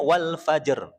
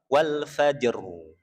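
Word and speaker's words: والفجر: Itu bacaan wal fajr itu dibacanya wal fajr. Wal fajr ya. Kemudian nanti lagi ada dari jalur Syam, kota Syam ya. Itu dibaca dengan apa? Wal fajru ya.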